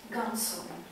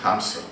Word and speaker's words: Hamsun: Knut Gamsun. This is Norwegian Nobel Prize. We say Knut Hamsun.